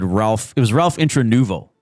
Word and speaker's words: Intranuovo: Ralph Intranuovo It's Intranuovo.